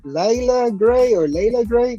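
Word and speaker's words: Leila Grey: It's called it's pronounced Layla Gray, but Layla Gray.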